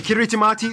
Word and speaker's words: Kiritimati: By the way, Kiritimati is the native way of pronouncing Christmas.